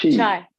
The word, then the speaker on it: Chi: It's Chai, pronounced chi. Chi. Okay, so Chi. So Like CHI, in right? Tai Chi, and like, yeah.